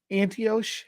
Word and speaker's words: Antioch: Paul and Barnabas to anos antios how do you say that a n t o c h Antioch Antioch anti okay Antioch uh follow followed or